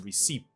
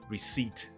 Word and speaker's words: receipt: 心，所以不是念成 receipt， no， receipt，你就把这个收据拿